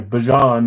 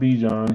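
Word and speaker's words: Bijan: Sorry, Bjon. Not Bejon. He told us how to say his name.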